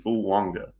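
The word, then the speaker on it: Fuaga: blocker for Mr JJ McCarthy and that's TSI fanga there is an in in there even though it is not spelled like that it is pronounced that way um if you look at the pronunciation Tois Fu Wanga um to Minnesota so they're going offensive weapons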